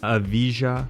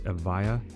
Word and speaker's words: Evija: And last but definitely not least, it's the Lotus Evija, not the Evija, which a lot of people say. The J is silent. It's Lotus Evija is the correct pronunciation of it, but that is it right there.